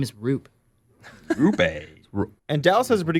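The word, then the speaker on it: Roope: around him, and I'm going to pronounce his name wrong, is Roop Hintz. So what's the buzz with this guy? Rope.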